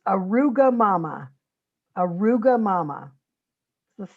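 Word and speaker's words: arugamama: to say it and then i'm going to spell it it's arugula mama aruga mama let's say that together a ruga mama it's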